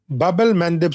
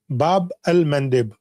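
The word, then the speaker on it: Bab-el-Mandeb: This is Babel Mandib Street. Babel Mandib. Bab al-Mandde or Babel Mandab I mean different pronunciations you can say this this trait they're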